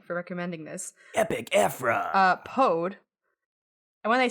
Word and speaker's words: Pode: Okay, so not pod or P-O-D, it's Pode, P-O-D-E. I mean, maybe it's pod, and the E is silent.